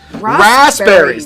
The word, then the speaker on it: raspberries: h in herbs but then you don't pronounce the P why is the P so much less than the H it's silent oh suddenly oh suddenly